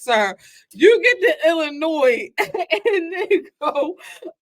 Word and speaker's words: Illinois: sir you get to Illinois and go I know you're not supposed to pronounce that but what's it there for that in the English